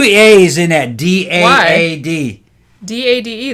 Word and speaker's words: Dade: D-A-D-E, that's Dade. To me, that's just Dodd. No, Dodd would be D-O-D. To me, it's Dodd. I would just say Dodd. Okay. I ain't going to fight over pronunciation. This is English you're talking about. I'm not talking about... If you put an E at the end, that usually makes the vowel long.